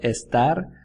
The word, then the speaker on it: estar: to think of how the pronunciation of estar sounds a little like the word star the ones in the